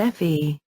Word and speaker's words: Fahey: I called him John Fahey, pronounced John F.E.